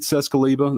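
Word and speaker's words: Czeskleba: and Pam Bearfield Training Center I'm captain cescaliba that's spelled k-e-i-t-h-c-z-e-s-k-l-e-b-a with the Hoover Police Department joining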